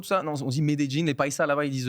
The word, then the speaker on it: Medellín: Ouais, c'est comme ça que ça se prononce. Je fais des jeans, on dit. Medellín.